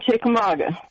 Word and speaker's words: Chickamauga: How do you pronounce where you are? I live in Chickamauga.